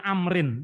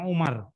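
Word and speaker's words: عمرو: kalau angin Miro Wow bacanya Amrin jangan Umar ya kalau tidak ada wownya setelah rok bacanya Umar tapi kalau ada uangnya Amrin beda Olla berkata Olla bersabda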